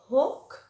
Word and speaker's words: hawk: No, por ejemplo, la palabra halcón, hawk, hawk, no es hawk, ni nada de eso. Hawk.